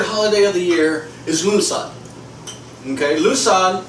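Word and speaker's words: Lughnasadh: is lunad okay lunad lunasad lunasad is a Gaelic word so it's kind of it's spelled let's see let's see it's spelled uh l u g h n a s a d h okay yeah yeah lunad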